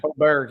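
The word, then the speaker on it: Åberg: Is that how you pronounce that, Wade? Aberg, yeah.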